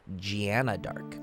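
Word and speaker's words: Jeanne d'Arc: based off of the french pronunciation of joan of arc which is gianna dark kind of pointless information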